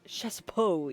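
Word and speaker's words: Chassepot: Uh, Shassapot, he is one Shasso even. Sorry, don't pronounce the T. He's French. He's one of the brothers slash twins.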